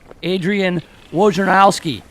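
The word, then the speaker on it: Adrian Wojnarowski: team's next head coach that's a woge bomb Adrian Warren house key is how you say his name of ESPN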